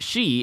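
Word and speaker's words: 四: then we have note the number four is pronounced she in japanese which is also a a homophone for death and then it cuts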